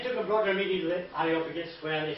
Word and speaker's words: Areopagus: Areopagus, yes. When I get my new teeth next year, I'll be alright. Can I have your old ones? They took a broader meeting with Areopagus where they said to him, may we know